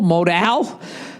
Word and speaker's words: Modal: points during your read note modal is pronounced modal modal this underwear is as